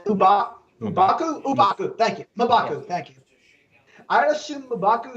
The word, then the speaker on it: M'Baku: M'Baku, thank you.